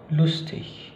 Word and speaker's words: lustig: Dan itu akan dilafalkan seperti ya, seperti kata misalnya kata König, König, dan juga lustig, lustig. Jadi cara bacanya bukan lagi König dan lustig, bukan, tapi König, lustig, gitu ya.